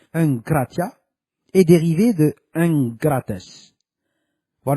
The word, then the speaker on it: egkrateia: Le mot egkrateia, voir le dictionnaire grec de Strong numéro 1466, prononcé enkratia, est dérivé de engrates, voir le dictionnaire grec